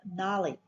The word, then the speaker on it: gnarly: G is a silent letter in the word gnarly.